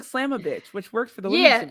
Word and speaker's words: Slamovich: It's Masha Slamovich. Slamovich. Yes. That sounds like Slamovich. Good job. Okay. It sounds like Slamovich, which worked for the women's division.